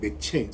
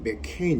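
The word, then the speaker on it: McCheyne: 추천도는 우리가 작년에이어서 올해도 또 개척 이후로 계속 로버트 머레의 맥케인 맥체인 스코틀랜드 발음으로 맥케인 이렇게 하는데 19세기 스코틀랜드 교육자죠.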